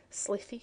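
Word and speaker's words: slithy: often been asked me how to pronounce slippy toes the ey in slippy is long as in W and Toes is pronounced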